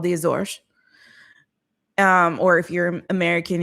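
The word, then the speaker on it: Azores: a um autonomous region of Portugal called the Azor. Um or if you're American, you may have heard them called Azors, but it's pronounced Azor.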